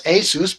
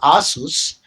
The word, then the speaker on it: ASUS: I hobbyists complained and the company which we pronounce Asus but that company pronounces its own name Asus the Taiwanese company decided hey there's enough of